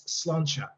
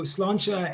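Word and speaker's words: sláinte: i'm like uh but actually this uh you pronounce this as slancha so cilancha is literally it's gaelic it's it's um irish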